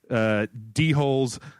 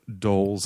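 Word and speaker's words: dhole: And you can tame yourselves, bears, wolves, d-holes, panthers, D-holes? I'm pretty sure they're called doles, and there's some kind of jackal offshoot.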